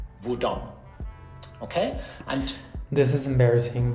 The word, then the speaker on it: hvordan: And with all these question words starting with HV, we don't pronounce the H. We write it, but we don't say it. So we say hvor, hva, hvem, hvorfor, når, hvor gammel, hvordan.